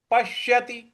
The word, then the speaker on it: पश्यति: ये हो जाएगा योमाम पश्यति पश्यति यहां जो प के बाद जो आधा श है उस पर हमें आघात देना है पश्यति सर्वत्र सर्वत्र पश्यति त पर